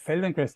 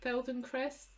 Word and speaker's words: Feldenkrais: very static the the approach of of the feldenkrais method that is my main inspiration for this